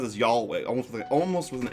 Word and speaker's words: Yahweh: He talked about the origins of the concept of Yahweh, which you pronounce as Yahweh almost with an L.